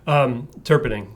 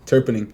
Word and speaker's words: Terpenning: How do you say your last name? Like iced tea. Yeah, iced tea, yeah. Terpenning. Terpenning. Yeah. Okay. You just sound it out, but it's long.